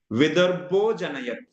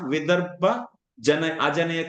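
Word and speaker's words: विदर्भोऽजनयत्: Vidarbho Janayat. Only you should read, not Vidarbha Ajanayat. You should not read like that. That's wrong. That pronunciation is not right.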